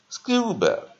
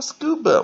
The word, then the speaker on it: scuba: Scuba. 啊, scuba, 我们看它是看重音在第一个音节, 啊, scuba. 那它比较好玩, 我们只要记得它是 S-C-U, S-C, 记得哈, S-C, 啊, 可以念成 S, 也可以念成 SK, 有两种发音, 哈。